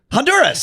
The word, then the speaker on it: Honduras: It sounds like the H is silent. Honduras.